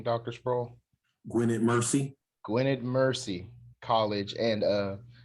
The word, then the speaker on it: Gwynedd Mercy: Gwynedd Mercy.